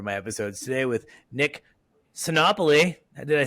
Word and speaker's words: Sinopoli: always excited for my episodes today with Nick copoly did I say it right yes you did